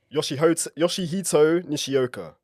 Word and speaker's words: Yoshihito Nishioka: Yoshihito Nishioka.